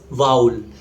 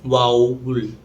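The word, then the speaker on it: vowel: Hindi it's called स्वर correct pronunciation इ वाउल just like टाउल if your unable to pronounce it correctly just remember the word cow this इ हाउ इट इ pronounced वाउल वाल इट इ of miss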